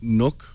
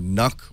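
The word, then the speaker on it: NUC: already figured out that is a nook or nook or who knows how you pronounce it I'm Intel we need a glossary here so we know how to pronounce it but it's spelled nu C stands for next unit of computing happens to be a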